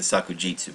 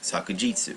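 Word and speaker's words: さくじつ: the word there's a more formal way of saying it sakujitsu but that's a uh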